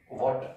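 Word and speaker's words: watt: Second को ही James वॉट के सम्मान में वॉट बोला गया। इसको वॉट भी बोल सकते हैं, वैट भी बोल सकते हैं, दोनों प्रोनाउंसिएशन एक्सेप्टेबल है।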